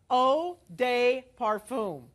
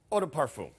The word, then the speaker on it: eau de parfum: you are getting the full bottle of the oh day parfum eau de parfum eau de parfum yes why i have to